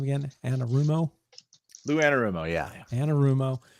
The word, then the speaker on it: Anarumo: Anarumo.